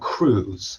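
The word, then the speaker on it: krewe: marching clubs they're called crews they call them crew and they spell it with a k uh there's crew to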